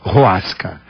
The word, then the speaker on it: Hoasca: Isto então popularizou o que é usado hoje com o nome mais simplificado de Roasca. Então, é H-O-A-S-C-A, Roasca, que se pronuncia com R, Roasca.